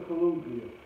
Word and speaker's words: Caligula: Yeah, that's how you pronounce it. That really didn't start till Caligula.